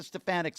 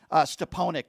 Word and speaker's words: Stefanik: The same types of people like the Stefaniks of the world, who, by the way, Donald Trump called Stepanik, doesn't even know how to pronounce her name.